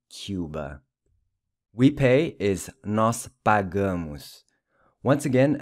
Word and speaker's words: pagamos: We pay is nós pagamos. Once again, the A is pronounced as in Cuba, and the O is pronounced like a U, so it's pagamos.